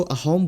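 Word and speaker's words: Asom: liberation front of आसाम तो actually इसको अहोम बोलते हैं एस को जो एच प्रोनाउंस किया जाता है इसलिए यहां पे ए एस ओ एम लिखा है तो अहम की यूनाइटेड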